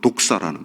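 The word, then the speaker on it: δόξα: 이 영화라는 말도 사실 영광이란 말, 이 헬라어로 독사라는 말인데, 뱀 독사가 아니고요, 독사라는 발음을 하는데, 그 표현을 그대로 쓰고 있어요.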